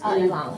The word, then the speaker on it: Ilang: But your Ilang, how do you pronounce Ilang.